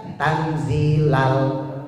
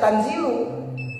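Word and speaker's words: تنزيل: Di Yasin umumnya orang baca tanzilal azizir rahim. Tapi boleh dibaca tanzilu. Kalau dibaca tanzila, maka dia statusnya maful. Dia dibacanya nasab namanya. Kalau tanzilu itu dibacanya rafa.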